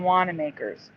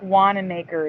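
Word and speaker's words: Wanamaker: Has anyone ever heard of John Wana Makers or Wana Makers? No, I never have. Well, how do you think Wanna Maker is spelled?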